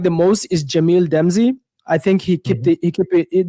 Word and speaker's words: Damji: The one that I like the most is Jamil Demzi. I think he kept it. That's how you pronounce his last name, right? Jamil Damji, man.